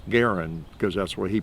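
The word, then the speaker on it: Garand: be a making it a point to always pronounce you know Gan Garen because that's why he pronounced his name or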